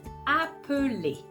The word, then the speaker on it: appeler: The basic form of that verb is appeler. So you can hear then there's no L.